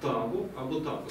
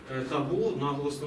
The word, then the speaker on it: табу: походить це слово від полінезійського слова «табу» або «табу», саме так, із наголосом на перший склад. Оце слово, яке ми використовуємо зараз в науковому обігу «табу», наголос на другий склад, це є вже англійською версією цієї первісної форми.